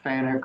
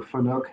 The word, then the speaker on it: FANUC: that's referring to uh the fanuc or finoc however you want to pronounce it um those functionality where